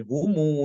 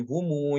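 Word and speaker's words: هم: Wabil akhirati humu yuqinun ya, seperti itu bacanya. Humu. Bukan dibaca wabil akhirati hum yuqinun, tapi wabil akhirati humu yuqinun.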